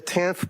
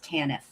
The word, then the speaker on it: TANF: you never studied the tanth population. Recall that. No that is not the correct conceptualization. Says you Mr. Readington the acronym pronunciation is tannif.